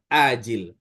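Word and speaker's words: آجل: Yang pertama pakai ain, ajil, yang kedua pakai hamzah, ajil.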